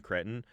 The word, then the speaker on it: Cretton: one, getting Daniel Destin Cretton to direct this. I think that's how you say his name. Yes. Daniel Destin No, you Cretton? said it right. Is it Cretton? You said it.